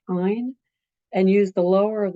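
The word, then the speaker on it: -yne: To show its presence in the name, you're going to change the ending ane to yne, which is pronounced "ine," and use the lower of the two numbers that you got up here.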